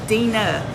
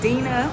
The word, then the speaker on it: Dena: pronounce my name so it's uh pronounced correctly as Dena okay I always put